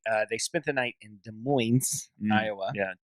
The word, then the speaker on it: Des Moines: And so anyway, they spent the night in Des Moines, Iowa. Yeah. And Minus the S.